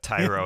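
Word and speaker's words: Thairo: repeat by the way Cyro Estrada Tyro Estrada literally just rhymes with Cairo oh Cairo and he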